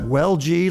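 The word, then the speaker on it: Welge: Yes, I pronounce that well-gee, like, well, gee, who was that unmasked man?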